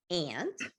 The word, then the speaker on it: aunt: We have alligator and aunt. And so aunt can also be pronounced as ant, right?